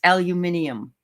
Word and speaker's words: aluminium: same with aluminum uh in Great Britain it's aluminium that's how they say aluminum oh wow yes that's